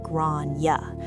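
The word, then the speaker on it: Gráinne: For context, Grania is an Old Irish name, usually pronounced something like Grania.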